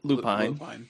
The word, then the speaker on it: Lupine: Is it Lupine or Lupine? Lupine. Lupine. Okay.